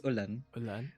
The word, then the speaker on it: Olan: the pronunciations so um so we have like Olan right it's just it's Olan um and then it's